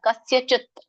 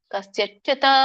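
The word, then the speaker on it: ಕಸ್ಯಚಿತ್: ಕರೀತಾರೆ ನದ ಅಂದರೆ ಸ್ವೀಕರಿಸುದಿಲ್ಲ ಕಸ್ಯಚತ್ ಸಕೆ ಯಾವತ್ತು ಕಸ್ಯಚತ್ ತಕೆ ವ್ಯಂಜನ ಇದೆ ಕಸ್ಯಚತ ಅನ್ನಲ್ಲ ಕಸ್ಯಚತ್ ಪಾಪಂ ನಚೈವ ಸುಕೃತಂ ಕಕೆ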